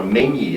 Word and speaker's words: menzie: And she has the foresight to bring along her Menzie. It's spelled M-E-N-Z-I-E. It means a squad of headies, basically.